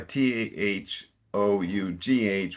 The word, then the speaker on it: though: Then it is thou. Okay. Okay. But this is though. Okay. It would be though. Sorry. T H O U G H would be though.